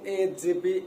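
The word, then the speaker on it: へ: হানায় পড়ছি কি এটার উচ্চারণ হে কিন্তু এটা যখন পার্টিকেল হিসেবে বসবে তখন এটার উচ্চারণ কি? বাংলায় হবে এ।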